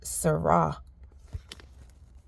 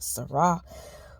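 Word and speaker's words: Serah: her name was pronounced Sarah or her name is pronounced Sarah but it's spelled s e r a h it just started to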